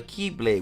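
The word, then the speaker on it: χ-blade: There was also Kingdom Hearts' counterpart, which was known as the Keyblade, which is spelled X-Blade for some reason.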